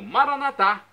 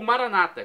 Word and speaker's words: Maranata: do aramaico ou clamo Maranata como dizemos nós católicos com a tônica na última sílaba ou Maranata com a tônica na penúltima sílaba como dizem nossos irmãos separados os evangélicos ou protestantes não importa pronúncia o